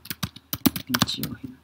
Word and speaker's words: 日用品: 家もすぐホコリがたまるので、掃除機をかける頻度も上がる。日用品でも消費が増えがちで、トイレットペーパーやティッシュ、ハンドソープなどの減りが早くなったと感じる人も多いはずだ。Ini Nichiohin, bener bukan ya bacanya? Coba cek dulu. Nichiohin.